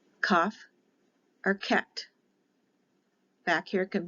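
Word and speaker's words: kaf: so it would be without the dot it's a k h with the dot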